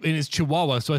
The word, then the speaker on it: Chihuahua: sounds better when you put the two bad pronunciations together I prefer chikuwa right it is Chihuahua so I said she Oh wah wah because